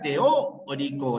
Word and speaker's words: teórico: La enciclopedia teórico, la fuerza de voz está en la O.